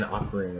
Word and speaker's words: Ocarina: We have Ocarina, as in Ocarina of Time. Apparently some people pronounce it Ocarina, but I say Ocarina.